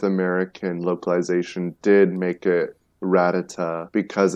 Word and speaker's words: Rattata: I have a friend who says ratata instead of Rattata oh my god that's